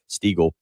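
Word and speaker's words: Steagall: than it really is steagle todd stego s-t-e-a-g-a-l-l is how he pronounces his name and he has won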